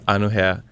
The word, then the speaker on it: Anu: they're like okay now they know it's oh anu that's how you say it not or whatever